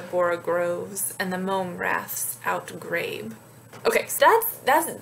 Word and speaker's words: rath: to be pronounced slivy wrath he says should rhyme with baths so in his writing